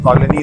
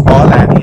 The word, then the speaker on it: Call Annie: ऐप का नाम की है Call Annie, जो कि देसी प्रोनाउंसिएशन में कॉलोनी हो गई, but it's Call Annie.